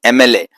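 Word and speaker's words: MLA: ए, एम, ए, हिंदी वर्णमाला के स्वर में ए, तो इसीलिए इसको पढ़ते दी एमएलए। दी ऑनेस्ट, एच से स्टार्ट हो रही है स्पेलिंग लेकिन ध्वनि आ रही है अ, ऑनेस्ट, इसीलिए इसको दी ऑनेस्ट।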